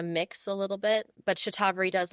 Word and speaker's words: Shatavari: I was saying Shatavari, so I'm glad I heard you say the proper pronunciation. So Shatavari.